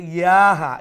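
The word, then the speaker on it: سُقْيَاهَا: রাসূলুল্লাহি নাকাতাল্লাহি ওয়া সুকবাহা সুক ইয়াহা, ইয়া বা নয়, ইয়াহা। বার মতো লাগে ওয়াসুক ইয়াহা ফাকাযাবুহু ফাআকারুহা।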